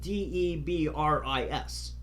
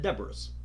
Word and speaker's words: debris: would spell it out de br is well I know now it's debris but at the time I said Deborah's because that's the way it looks or chasis because that's